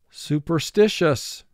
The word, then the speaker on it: superstitious: Four syllables. First syllable, su, two sounds, s, u. Per, two sounds, p, er. Sti, three sounds, s, I. Shus, three sounds, sh, a, s. Su, per, sti, shus.